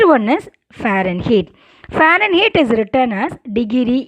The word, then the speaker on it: Fahrenheit: heat the spelling is f a h r e n h e i t but you have to pronounce fahrenheit h is silent then and kelvin the